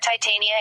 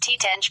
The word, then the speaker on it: Titania: Shakespeare's character's name is pronounced Titenge, but the moon is often pronounced Titani, by analogy with the familiar chemical element titanium.